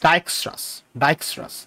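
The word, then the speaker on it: Dijkstra's: সো প্রোনাউন্সিয়েশনটা মাথায় রাখবা, ইটস ডাইকস্ট্রাস।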